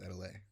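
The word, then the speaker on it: Atelier: Is Adelaide.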